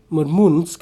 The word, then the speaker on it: Murmansk: Murmansk is how you pronounce it, sorry.